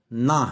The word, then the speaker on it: نا: پڑھنا پڑ رہا تھا، جبکہ اس کا اصل تلفظ نا ہے، یعنی ایک حرف کے برابر۔ اس میں ہے بیان